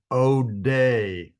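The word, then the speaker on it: אודה: Odeh is how you say praise.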